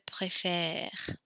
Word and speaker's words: préfère: So note the way we pronounce this E when it changes its accent, we kind of smile when we say it, préfère, préfère. We keep our mouth unsmiling when we pronounce nous préférons, vous préférez.